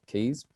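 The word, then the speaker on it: cayes: to there are 450 keys uh which are our little islands now keys is not spelt kuis it's it's spelled c-a-y-e-s but pronounced keys uh americans have a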